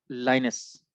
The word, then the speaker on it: Linus: एक और यूनिवर्सिटी है जिसका नाम मुझे एग्जैक्टली याद नहीं है कि क्या था, बहरहाल एक स्टूडेंट था जिसका नाम है लाइनस, LINUS, लाइनस टॉरवर्ड्स।